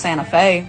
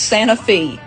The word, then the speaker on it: Santa Fe: __ ] LEF it you might think this is pronounced Santa Fe no it's Santa Fe oh Ciro like Egypt